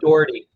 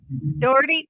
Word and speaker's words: Daughrity: Dougherty? Dougherty? How do I say it properly? It's just Daughrity. Daughrity, thank you.